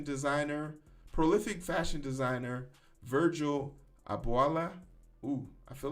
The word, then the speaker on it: Abloh: print this uh say say it with me i blow oh virgil abloh okay prolific fashion designer virgil abloh dies at 41.